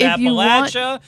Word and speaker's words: Appalachia: We're going to have to end this story because you said it wrong. It's Appalachia. It's got a l sound.